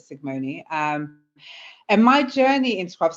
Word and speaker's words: Sicgmone: So as I mentioned, my name is Sigmoni. It's weird, it's actually spelled with a C and a G, so like Sigmund Freud, but Sigmoni.